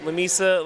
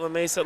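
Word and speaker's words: Lamesa: Lameisa, La Mesa, Lameisa, Lameisa, Lameisa. I butchered this so many times and I you know, I talked with y'all prior.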